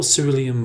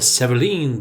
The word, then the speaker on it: cerulean: Then we're going to go for Cerulean Blue, or Cerulean Blue, depends how you pronounce it.